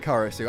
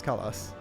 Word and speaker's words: Karasu: was with Chuchu oh his name is actually karasu I was curious about that I thought that was the case but he didn't pronounce it that way like she does but he actually says call us I guess like yeah cutting off the the end oh my God those